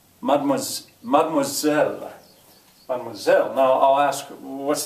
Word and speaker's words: mademoiselle: He says, salut, mademoiselle, after me, mademoiselle, mademoiselle.